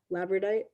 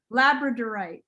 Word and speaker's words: labradorite: tracy always corrects me labradite labradorite like the dog labrador that's my thing man